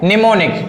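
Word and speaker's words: mnemonic: क्या बोलते हैं की अगर एन के पहले एम हो क्या एन के पहले एम हो तो क्या होगा क्या होगा एम साइलेंट हो जाएगा वहां पर एन के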